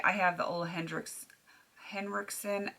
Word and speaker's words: Henriksen: have the old Hendrix Henriksen I always want to mispronounce it because I knew someone with the last name Hendrickson um Ola Henriksen primer